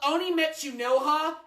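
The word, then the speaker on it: Kimetsu no Yaiba: Uh, it is called Oniime Metsu noa, not Demon Slayer.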